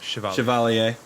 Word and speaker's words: Chevalier: or like a knight I say it's Chevallier Chevalier yeah where I'm going with a vaguely French